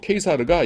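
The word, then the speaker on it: Caesar: 그 시저가 케이사르라고 할게요. 그 로마식 발음으로 케이사르가 이 옥타비아누스를 양자로 이제 들여가지고서는 자기 후계자로 삼습니다.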